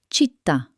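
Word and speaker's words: città: In Italian, these words love to end with a stressed ta. Remember what we learned about the accent mark? It tells you to hit the last syllable with extra energy. Listen to how the word city transforms. In Italian, it becomes chitta. Can you feel that final pop of energy?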